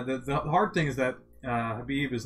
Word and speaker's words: Khabib: It's not Khabib, it's Habib. Habib, yeah. Is it Habib? Habib. Ah. I watched a YouTube video, and it was him telling people how to pronounce his name.